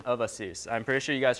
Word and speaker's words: ASUS: It's kind of corny, but it's not like ASUS. It's not going to be as us, or, there's the corny part, a chew.